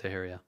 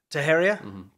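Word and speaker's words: Teixeira: up big time this guy um taharia is pronounced taheria taheria okay well now we know are you sure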